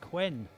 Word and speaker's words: Quinn: eventually found out and the pronunciation is quinn quinn yeah oh that's easy